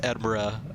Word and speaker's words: Edinburgh: But for some reason, over time, you know, unlike the way Edinburgh is pronounced Edinburgh in Scotland, right, the pronunciation became Berg, which is kind of interesting.